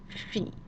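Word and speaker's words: fille: and the first column our first noun is pronounced in fee in fee and that means girl if you think about the word in English for a young female horse that word philly is very closely related those where I've in fact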